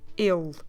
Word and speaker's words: ele: The word for he is more a closed vowel, so you don't open much your mouth, you do a il.